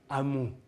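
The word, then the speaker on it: amor: l'avez celui-là bon après le R à la fin du mot on oublie Kanta ou Amou et le N on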